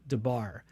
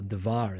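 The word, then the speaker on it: Debar: son of amio uh at lo dibar um i should say davar at least because that's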